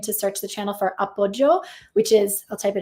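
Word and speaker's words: appoggio: you put in to search the channel for upjo which is I'll type it into the chat so you can know how to spell it a p p o g g i o Appo okay there you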